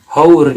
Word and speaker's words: hour: oleh kan sudah salah karena hours itu bacanya hour jadi lebih tepatnya Oh